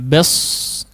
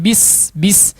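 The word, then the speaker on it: بسم: Kemudian yang kedua, huruf sin di sini harus betul-betul tipis ya. Jangan bes, tapi bis.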